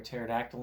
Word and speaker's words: pterodactyl: you know why you don't hear a pterodactyl in the bathroom? Why? Because the P is silent.